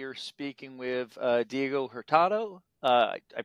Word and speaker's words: Hurtado: uh today we are speaking with uh Diego herado uh I pronounced your last name correctly right very very